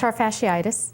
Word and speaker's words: plantar fasciitis: ask her to to to pronounce DPM uh planter fasciitis yes is that how it's pronounced plantar fasciitis and it's commonly known as Hills Spurs hillspur